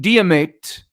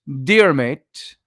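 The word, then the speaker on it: Diarmait: become a beloved tradition King diemate dear mate deer mate Maybe d-i-a-r uh m-a-i-t dermate became concerned or maybe it's Dermot it might be an earlier version of Dermot so we'll call him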